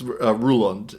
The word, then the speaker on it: Roland: Uh, it's Ruland is how we pronounce it. And Ruland is one of my favorite uncles.